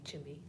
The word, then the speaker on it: Chime: But Chime, and I hope it's not disrespectful to call him Chimmy, but he always said, call me Chimmy, rhymes with Jimmy.